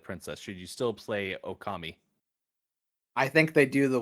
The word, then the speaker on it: Okami: Well, someday I'll on Okama. Okami.